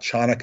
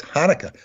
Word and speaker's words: Hanukkah: you know it's not chanukah or konica it's hanukkah you don't pronounce the ch and hanukkah how it's